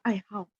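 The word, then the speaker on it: 爱好: Teman-teman pasti bilang, oh ini bukannya bacanya hao nada 3 ya? Iya, kalau ni hao itu dia baca nada 3. Tapi kalau dia gabung dengan huruf ai hao itu artinya hobi dan harus baca nada 4.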